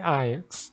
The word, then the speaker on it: Ajax: Eu vou continuar falando Ajax, porque sim, basicamente, porque todo mundo fala, mas que fique claro, a pronúncia correta é Ajax, tá?